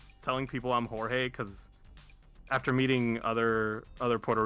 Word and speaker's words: Jorge: And I'm like, "Jorge." And he goes, "Why?" Why? And I'm like, "Yeah." And I'm like, "Because it's in Spanish."